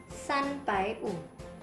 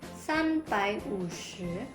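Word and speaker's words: 三百五: 5=wǔ Also, 350 = sānbǎiwǔ Okay, merken Sie sich, 350 wird nicht als "sānbǎiwǔshí" ausgesprochen, sondern als "sānbǎiwǔ" Ein weiteres Beispiel, 740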